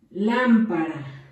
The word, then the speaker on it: lámpara: En el número 2 les dicté la palabra lámpara. Lleva acento en la primera A.